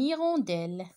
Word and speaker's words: hirondelle: une et wendel une hirondelle un abri un habit un cahier le théâtre le thé je répète un homme regarde et c'est la même chose toujours je prononce pas la lettre h d'accord allez un homme